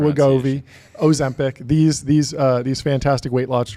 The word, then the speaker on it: Wegovy: Ozempic, Wegovy, Mounjaro, Wegovy. That's the proper Okay, pronunciation. Wegovy, Ozempic, these fantastic weight loss drugs that are absolutely blockbusters.